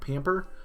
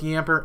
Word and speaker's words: Yamper: It's actually Yamper, not Pamper. But it was close enough to really make it a lot easier for us to get that. So, yes, he called both Yamper and Wooloo.